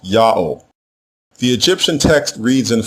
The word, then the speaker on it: Ya'o: So the name has to be pronounced Ya'o.